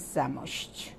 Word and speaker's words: Zamość: My country is Poland and my town is Zamość. And should I spell it?